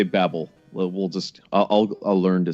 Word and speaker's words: Babel: Well, according to the Japanese, it's Babel. So we could say Babel.